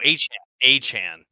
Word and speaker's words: Achane: Devon Achane? Oh, Achane.